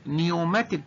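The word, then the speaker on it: pneumatic: النوع الخامس اللي اسمه نيوماتيك بون البي سايلنت ما بتتنطقش بنطقها من الاول للان، نيوماتيك بونز اللي هي البونز كونتيننج اير زي الجيوب الانفيه كده اللي بيسموها البارانيزال ساينسز اوف ذا سكال.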